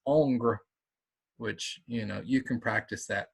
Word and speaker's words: Ingres: It's not Ingress. It's Ongre, which you can practice that. Ongre is how you pronounce it. It's like angry without the e, I suppose.